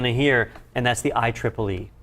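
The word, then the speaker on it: IEEE: is all that well the proper way to say it is i triple e 802 11 b i triple e 802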